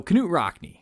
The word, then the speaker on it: Knute Rockne: So Knute Rockne, and this is of course pronounced with a hard K, not a soft one, by the way, was born in Voss, Norway on March 4th, 1888.